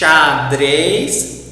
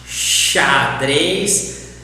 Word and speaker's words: xadrez: When a word starts with X, always we will pronounce like this. Sh, xadrez. A chess, for example. Pay attention here on the examples and how do I pronounce. If the word starts with X in Portuguese, sh, xadrez, chalé, xícara, xereta. Always do this.